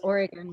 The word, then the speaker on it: Oregon: We came from all over the country to the wacky state that we learned to pronounce as Oregon once we arrived there.